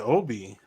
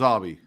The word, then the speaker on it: Avi: ABI or was it Obi it was Avi because I thought it was Obi like Obie Trice it was spelled though it was Avi if you listen yeah yeah that's the way he himself pronounced it so that's what I'm